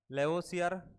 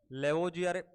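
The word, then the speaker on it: Lavoisier: लेवोसियर। इसका जो जनक होता है वो कौन होता है दोस्तों? लेवोसियर होता है। लेवोजियर, देखो इंग्लिश प्रोनाउंसिएशन का फर्क होता है।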